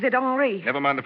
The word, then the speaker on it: Henri: Henry, it won't do.